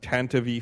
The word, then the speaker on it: Tantive: Pablo Hidalgo has said on an official Star Wars material that it is pronounced Tantive 4, according to at Ryan_Freeze on Twitter.